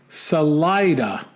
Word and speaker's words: Salida: don't know and then he says Salida is actually pronounced Salida not to be confused with saliva I added that part